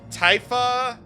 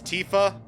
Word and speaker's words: Tifa: it mako or mako or whatever was it typha was it bullet but no it's tifa it's mako it's material yeah there's a lot